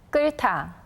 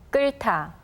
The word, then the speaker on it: 끓다: Notice that we only hear the 리을 sound in the first syllable, and the 히읗 letter combines with the 티귿 consonant that comes after it to become a tension sound.